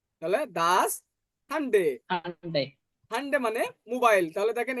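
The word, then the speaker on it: Handy: তাহলে দেখেন এই যে এইচটাকে আমরা পড়েছি হা, আর এটাকে পড়েছি আ, এনটাকে পড়েছি এন, ডেটাকে পড়ছি ডে, আর ওয়াইটাকে পড়ছি উপসিলন। তাহলে ওয়াই এর মধ্যে উচ্চারণ হবে।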